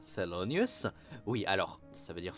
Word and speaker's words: Thelonious: Hound, utilise le nom d'emprunt Thelonious, qui se prononce Thelonious.